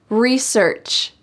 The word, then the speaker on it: research: it's a big project research research notice that this is the american english pronunciation we emphasize re and don't emphasize search research i never buy